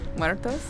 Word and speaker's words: Muertos: Muertos, you like that? I think Julian's gonna be proud of how I said it. So. You roll your R's. Roll my R's.